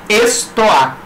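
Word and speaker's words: στοά: Porta ou pórtico da cidade, escrito em grego, pronuncia-se estoá.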